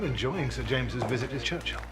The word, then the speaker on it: Churchill: sir James's visit his Churchill Church chill that's how you say it all together like that I'd heard church and